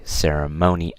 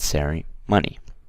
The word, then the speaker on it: ceremony: write it down so we say ceremony not sorry money okay and here this